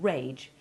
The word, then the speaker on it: rag: already been established raging compare this with the verb rag meaning make fun of which ends in hard g and needs to double